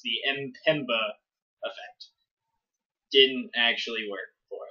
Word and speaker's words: Mpemba: We were unable to prove the Mpemba effect, as Siri informed us it's actually pronounced. The Mpemba effect didn't actually work for us.